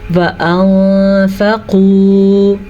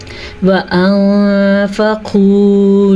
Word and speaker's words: وَأَنفَقُوا: وَأَنفَقُوا، پھر سے نون ساکن کے بعد فا آیا تو ہم نے نون کی آواز کو چھپا کے اور غنّے کے ساتھ پڑھا ہے.